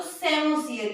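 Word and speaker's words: psammosere: रेत पर अनुक्रमण ज्यादा है तो सेमोसीयर। यहाँ पे स्टूडेंट जो पी है वो साइलेंट है।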